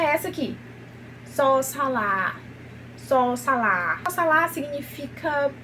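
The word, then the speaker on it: ส: E a pronúncia dela é só, sa. Só, sa. Sendo sa, tigre em tailandês.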